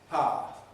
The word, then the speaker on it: power: How do we pronounce the word spelled P-O-W-E-R? Pa.